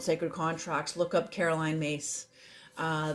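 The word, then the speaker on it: Myss: contracts look up Caroline mace uh the last name is spelled m yss Caroline mace very powerful her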